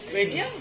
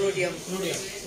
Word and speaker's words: rhodium: Radium বলে আর rhodium. Rhodium. আমি তো radium জানতাম. Rhodium. Radium আর rhodium একই কিন্তু উচ্চারণটা হচ্ছে rhodium.